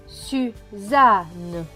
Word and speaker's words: Suzanne: Les deux N se prononcent N. Donc N et E, ne. Donc ce mot va se lire su, za, ne. Suzanne, Suzanne.